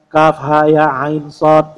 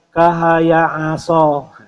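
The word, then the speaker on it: كهيعص: Cukup dua harakat saja Kaf ha ya ain Shad jadi Kaf Ain Shad dibaca enam ha ya dibaca Dua cara membacanya adalah dengan membaca nama hurufnya bukan kaha aso ya ternyata tidak sedikit juga yang membaca seperti itu berarti dia belum pernah belajar tajwid sejak kecil ya kahaya aso itu tidak seperti itu Kaf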